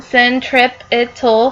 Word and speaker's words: centripetal: you can see here this is the pronunciation syrip ital Force again it's the inward